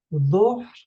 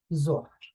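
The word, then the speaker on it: ظهر: like dhahir, like madahir, but in dialectal Palestinian Arabic could be pronounced simply like a de, so it would be dahir, madahir, and duhr. Sometimes you hear also that it will pronounce like a normal Z, like Zahir, Mazahir, Zohr.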